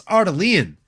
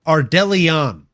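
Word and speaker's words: Ardelean: Alice Ardelon or Ardellion. Ardellion. That's it. Alice Ardellion. I've been saying it wrong the entire time.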